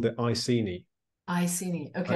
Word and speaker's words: Iceni: And so you say Iceni. No, say it again. Iceni. Iceni. Yeah. Okay. Yeah. And I've only ever read the words with my, like, quietly in my head. Yeah. So I'm pronouncing it Akeni without knowing what I'm saying.